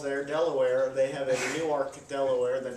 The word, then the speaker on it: Newark: a Newark Delaware that they call new ark yes we are referring to nework newers when you come from New Jersey you say no you you pronounce that norc and you're told very many times if you've ever been to Delaware or Newark Delaware and you say hey I'm in nor Delaware they say no sorry you're in new ark